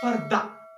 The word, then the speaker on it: further: those words in English which end in er give a new sound, which is schwa sound. And schwa sound, its symbol is like this, and it's give a sound like eh. So further, its pronunciation will be further. Farther, its pronunciation will be farther.